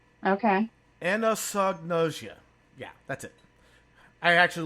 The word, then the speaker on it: anosognosia: It starts with an A, but it's pronounced with an eh sound. Okay. Anosognosia.